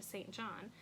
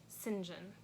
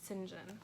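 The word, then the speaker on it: St. John: three books by Patricia I would say Patricia St John but according to Elizabeth Elliott whom I trust in many ways says that it's pronounced Sinjin so Patricia Sinjin and she says that's the English for you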